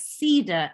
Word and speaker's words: Sadar: hi valerie um um my name is pronounced as cedar as in cedar tree cedar tree you know it's been